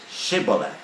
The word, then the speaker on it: Shibboleth: a password to say they have to say shibolet and if they pronounced it shetti and did you hear how many people yes 42,000 people were killed just because they couldn't pronounce the word correctly they mispronounce the words so